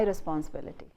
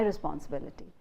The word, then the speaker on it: responsibility: Normally in Indian English you say this is my responsibility, and you put the stress only on ris, this is my responsibility, but the stress is on ability, bill. So you say bill is the main stress and ris has the secondary stress.